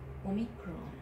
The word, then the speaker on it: omicron: Omicron. Omicron. Omicron. Omicron is O sound, O in English.